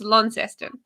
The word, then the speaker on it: Launceston: a bit like launceston it's like everyone calls it launceston they get in trouble it's launceston yeah not lawn not launchers okay raspberry rose green